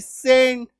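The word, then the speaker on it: scent: वाई से दोस्ती कर लिया है, मतलब इसका उच्चारण स होगा, है ना। तो एस सी एन ई सीन, एस सी एन टी सेंट, ए एस सी एन एसेंट, डी एस सी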